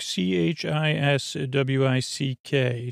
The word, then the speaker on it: Chiswick: Chiswick, c h i s w i c k. Chiswick is pronunciation.